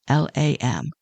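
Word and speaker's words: लं: The traditional sound associated with the root chakra is LAM, LAM, LAM. And you don't have to do it. I'm just letting you know for information purposes that it's LAM, LAM.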